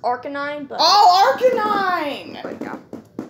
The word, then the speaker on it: Arcanine: Arcanine? It's technically pronounced Arcanine, but...